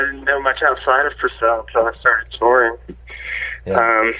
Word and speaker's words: Purcell: Well, I was looking up your bio, and I came across your hometown of Purcell, Oklahoma. Is that correct? Yeah. Is that how you pronounce it? Yeah, Purcell.